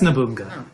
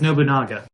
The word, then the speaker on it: Nobunaga: Oh, that's Nobunga. Yeah. I always pronounce it as Nobunaga. Isn't it? Nobunaga? Oh god, there is a second A, isn't there?